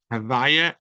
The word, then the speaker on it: Havaya: Havaya is God's name, the Tetragrammaton, as we pronounce it nowadays, without it being a holy name, is Havaya, but really it's a Yud, Hey, Vav, and Hey.